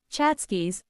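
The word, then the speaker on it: tchotchkes: Chachkis, she called them. Yes, even Irish girls use Yiddish words in New York. Chachkis pronounced Chhatskis or little anythings.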